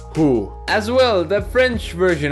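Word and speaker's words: hoe: vanders I know it's written ho but it's pronounced who as well the French version of saying the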